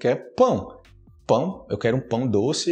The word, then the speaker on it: pão: a palavra pão né que é pão não fale pau Ok para as pessoas